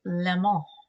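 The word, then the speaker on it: Le Mans: left John andred 1988 Lon you got to say it like that it's the rules uh Lama France 1988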